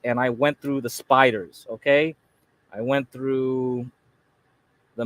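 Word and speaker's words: SPDR: are called the spiders SP PDR they just pronounce it spiders don't ask me why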